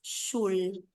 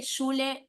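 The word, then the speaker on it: שול: más germanizada Sí pero la palabra estándar es shul si no es que shule seguramente aparece shule con la a también en escritos o sea que yo vale Sí pero pero es como muy muy muy muy germanized se dice shule s la palabra shule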